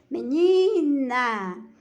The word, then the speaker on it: menina: paroxítona porque o som mais forte é dormir menina tá certo e por último nós temos a prova paroxítona vamos lá contar quantas sílabas tem a proparoxítona nós temos uma duas